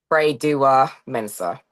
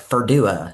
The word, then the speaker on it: Freydua Mensa: So just for the audience, how do you say your full last name? Frey Dua Mensa. Freydua Mensa. Because I've heard it Yes. pronounced to be like Ferdua, and I'm like, I don't think so.